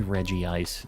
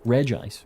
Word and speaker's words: Regice: and Regice is always some people say Reggie ice I don't know it doesn't have two eyes we've talked about this Regice Reggie ice uh is